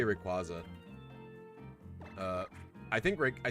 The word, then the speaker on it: Rayquaza: like oh well but then it's supposed to be like a quasar i guess is the